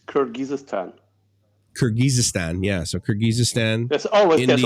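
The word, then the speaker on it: Kyrgyzstan: getting across a bit CRI how do you pronounce that what is it it's kirgisistan kirgisistan yeah so kirgisistan there always there always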